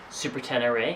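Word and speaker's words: Super Ténéré: the yamaha super 10 super 10 array i think is how it's pronounced um we first are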